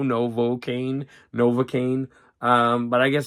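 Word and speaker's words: Novocaine: Now, that's a word that I always want to say, Novakane. And it's it's hard to remember that that's an o Novocaane, novocaane.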